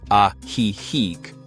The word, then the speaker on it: Ajijic: The region is home to a group of charming lakeside towns, the most famous of which is Ajijic, pronounced Ajijic, along with Chapala, San Antonio Tlayacapan, and Jocotepec.